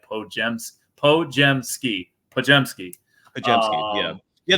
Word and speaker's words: Podziemski: gemski pojemski yeah yeah the best way to tell people if you want to know how to pronounce his last name just replace the d The Z and the I with a J and I think there